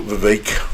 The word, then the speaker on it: Vivek: so let's go into Vivek rhymes with cake Rama Swami who the